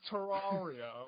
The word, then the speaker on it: Terraria: No, I have nothing to say, but it's pronounced Terraria.